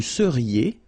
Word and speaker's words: seriez: Vous seriez. So here when you've got this EZ at the end, then you get the sound E, seriez.